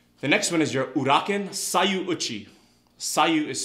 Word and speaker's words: Uraken: blue belts and advanced blue belts, are your Uraken strikes. Uraken is spelled U-R-A-K-E-N.